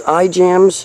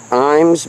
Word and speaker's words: Ijams: Now this is iJams. I think it's pronounced Imes, but it's the Nature Center in South Knoxville.